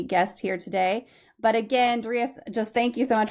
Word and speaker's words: Darius: You know, there's 8 billion people on the planet, and I'm the only person out of 8 billion that pronounces it Darius.